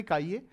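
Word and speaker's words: χA: और फॉर्मूला क्या होता है, एक्सए बराबर एक्सए, इसे प्रोनाउंस करते काइए, एक्सए बराबर Na upon total number of moles, Na plus Nb, what जो भी कंपोनेंट है सोल्यूशन में वो सब।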